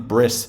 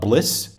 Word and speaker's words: Bliss: the Saint Briss, although technically I think Briss is a mispronunciation of bliss, you know, kind of like joy.